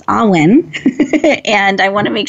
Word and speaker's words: AWWIN: I've been pronouncing it Awin, and it's Awin.